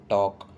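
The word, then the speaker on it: talk: Last है बच्चों टॉक। टॉक मतलब बातें करना, और यहाँ भी एल की साउंड नहीं आ रही है, तो एल यहाँ पर साइलेंट है।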